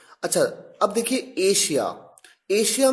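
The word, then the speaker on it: Asia: यहां पर एस के साथ एच नहीं आया, डबल एस आया है, लेकिन प्रोनाउंसिएशन में शलगम वाला श है। पैशन, प्रेशर, अच्छा, अब देखिए एशिया।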